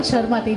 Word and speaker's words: शर्माती: स और श में क्या अंतर है? बहुत अंतर है। शर्माती और शर्माती तो अब सही है ना, शर्माती।